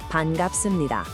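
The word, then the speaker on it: 반갑습니다: Let's nail down the pronunciation. Listen carefully. Pan-gap-sum-ni-da.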